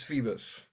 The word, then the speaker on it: Phoebus: Or am I pronouncing that? Is it Phoebus? Yes, it's Phoebus. Phoebus.